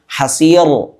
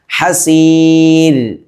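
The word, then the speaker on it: حسير: പല ആളുകളും ഹസീർ ഇന് തഫ്ഹീമാക്കി ഹസീർ എന്ന് ഉച്ചരിക്കും. എന്നാൽ അങ്ങനെയല്ല. ഹസീർ മലയാളത്തിലെ ര എന്നതിൻ്റെ ഉച്ചാരണമാണ് ഇവിടെ വേണ്ടത്. ഹസീർ ഇങ്ങനെയാണ് ഓതേണ്ടത്.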